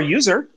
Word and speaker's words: usr: same reason that's where user home directories were initially well i know that but i'm saying that the fact that it's written as usr we still call it user because we know that